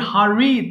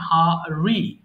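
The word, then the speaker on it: hurry: করবেন শুরুতে একটু বলি হারি তাড়াহুড়া করা দেখেন হারি না বলে এটাকে একটু উচ্চারণ করবেন সফটলি এবং বলার চেষ্টা করবেন হারি হারি হারি র সাউন্ড যেটা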